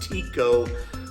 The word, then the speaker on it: Tekoa: then back to the finishing town of tico washington spelled like tekoa t-e-k-o-a i'm not ready